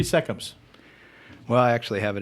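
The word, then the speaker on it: Seccombe: I have heard Seckham mispronounced so many different ways. Seckham, Secombe. You've probably all heard it. Seckham. It's Seckham.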